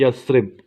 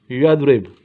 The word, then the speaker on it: Yathrib: वो है यसरिब। उर्दू में यसरिब पढ़ेंगे, लिखेंगे आप इस तरह, YATHRIB, यदरिब। ठीक है, तलफ़ुज़ पे मत जाएं, आपने स्पेलिंग को ठीक रखना है।